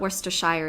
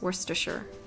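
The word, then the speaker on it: Worcester: here sh is kind of how sh is pronounced in English in England right they don't really like like werer werer it's not worshire it's Worster in English right anyway noer which is the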